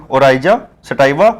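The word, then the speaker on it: Oryza sativa: और ओरजिया सटाइवा, है ना, ओराइजा सटाइवा होता है। ये भी आपको याद रखना है, स्पेलिंग ORYZASATIVA।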